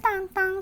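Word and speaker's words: Tintin: Sé que varios estarán preguntando, "Ay, Mariana, pero ¿por qué pronuncias tan tang si claramente dice tin?" La razón es simple, la pronunciación correcta en francés, el idioma original en el que fue creado el personaje es esta, así que lo diré de esta forma.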